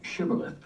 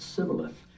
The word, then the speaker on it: shibboleth: Then said now unto him, say now shibboleth, and he said sibboleth, for he could not frame to pronounce it right.